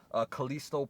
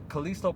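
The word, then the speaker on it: Callisto: they showed more footage an extended trailer of kalisto protocol i believe that's how you properly pronounce it it's by the people who made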